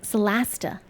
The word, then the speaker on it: Solasta: Lighting and light sources in Solasta, that's how they pronounce it, Solasta.